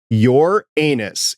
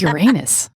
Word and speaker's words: Uranus: And also returning is the warehouse agent who pronounces it your anus. It's agent Carolyn. It's Uranus. Uranus.